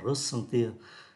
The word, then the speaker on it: ressentir: Động từ ressentir là verb transitive direct, chúng ta phát âm là ressentir, có nghĩa là cảm thấy.